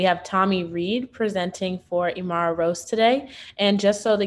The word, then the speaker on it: Imara Rose: Correct me if I'm wrong in pronouncing this, Imara Roos mentoring program? It's Imara Rose. Oh, okay, Imara Rose. Yeah, it looks like Rose, but it's Rose.